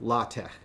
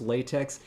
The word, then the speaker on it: LaTeX: Doug was and is an expert user of latt. Those of you within linguistics will know what latt is. Those who are not in linguistics won't know. At first, it's lx. You might have heard it pronounced latex.